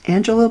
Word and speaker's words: Angelia: family pronounces it and it her name's Angel Angela Bliss but you're going to spell it a n g e l i a